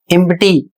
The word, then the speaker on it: empty: अगला शब्द है EMPTY एम्प्टी, इसमें देखिए प का भी उच्चारण किया जा रहा है और ट का भी उच्चारण हो रहा है, जबकि इसमें P और T साथ में आया है, लेकिन ये अपवाद के रूप में है।